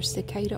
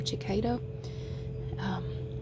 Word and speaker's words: cicada: but and people some people pronounce it differently around here it's either cicada or Chiquita and they come up